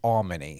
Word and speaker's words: Almony: he said to me, just think of all money. It's Almony.